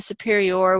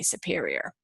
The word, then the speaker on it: superior: And then usually the superior, we put the accent on this final syllable, not just say superior.